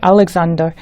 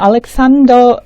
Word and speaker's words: Alexander: 근데 알렉산더 이거 약간 그냥 사이드 팁인데 말씀드리면 이게 미국에서는 알렉산더 S 발음에 더 가깝게 날 것 같은데 영국 사람들은 들어보면 알렉산더, 잔더로 발음 많이 합니다.